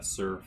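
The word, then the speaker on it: Tser: e r sorry pool Sur pool yeah TS e r is how I thought I would spell that um this is a uh this is a pool that's created by the Sur Falls which is that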